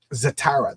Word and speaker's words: Zatara: doing is they're uh zatara that's how you pronounce it it's a tera so it's it's estrogen